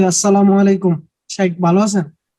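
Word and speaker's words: السلام عليكم: নেয়ার শুদ্ধ উচ্চারণটা একটু আরো একটা ছিল শুদ্ধ উচ্চারণ আসসালামু আলাইকুম এটা হচ্ছে সালাম 10 আসসালামু আলাইকুম ওয়ারাহমাতুল্লাহ 20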